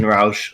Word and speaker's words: Rauch: of Korn and Jasen Rauch of Breaking. God damn it. Yeah. Oh. Rauch of the German pronunciation, if that's what we're going by. Either it's Rauch or Rauch. This Rauch means smoke in German.